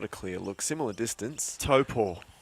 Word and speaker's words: Taupo: Taupo is the correct pronunciation of the classic in New Zealand.